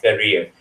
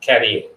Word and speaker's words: career: this word over here the pronunciation is similar like the kuwait career is career not caring okay the spelling for